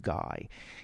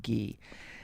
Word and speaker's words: Guy: And this was a disc featuring Francois Frederick Gee or do you pronounce his last name Guy? It's Gu Y. I think you say Gee.